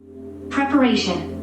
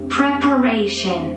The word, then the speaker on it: preparation: এই চিহ্ন থাকলে উচ্চারণটা হয় একার, সেই কারণে প্রেপারেশন। Preparation. Preparation.